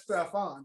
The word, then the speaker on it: Stephon: The Panthers have Stephen Gilmore also. Like Stephon, Stephen. Everybody pronounces be spelling the same way, but all pronounced differently. But he pronounced it as Stephon.